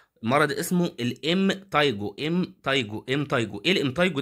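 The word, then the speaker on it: impetigo: الوسطي طيب بعد كده الام تايجو البي سايلنت البي ما بتتنطق مرض اسمه الام تايجو ام تيجو ام تيجو ايه الام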